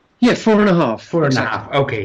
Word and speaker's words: 4 ½: like H how is it meant to be pronounced yeah four and a half four and a half okay yeah now now